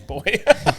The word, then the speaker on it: buoy: cheers here is it actually pronounced bu it's Bo buoy yeah we kept saying buoy